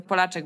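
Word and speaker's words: Polachek: jest Caroline Polaczek zaciek nie wiem ja mówię Polaczek bo ona jest Słowackiego czy tam czeskiego pochodzenia ale pisze się to po amerykańsku i teraz właśnie wyszła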